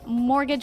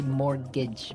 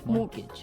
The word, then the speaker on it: mortgage: mean there's this strange mortgage with a t yeah it has a t in it but you don't pronounce it you say mortgage morgage so not Mort Mort